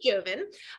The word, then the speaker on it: Jovin: So our guest today is Jovin. Is that how it's pronounced? Jovin? That's right. Okay, Perfect. Jovin.